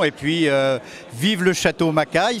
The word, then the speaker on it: Macay: puis vive le château macaille ce nom sympathique qui qui s'inscrit ou qui s'écrit plus exactement un peu à l'américaine ma parce que l'origine était écossaise et le lieudi était